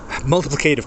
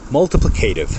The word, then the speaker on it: multiplicative: That is how Americans say multiplicative. The English, the British, the other countries will more than likely say multiplicative. Why do they say multiplicative? It does roll off the tongue a little better.